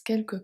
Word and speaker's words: quelque: So here both U are going to be silent, but the final E is pronounced. That's one of these words. Quelque. Quelque. But the S is silent.